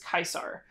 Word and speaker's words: Caesar: in Latin or like Julius Caesar would have been pronounced Julius kaisar so we have yuam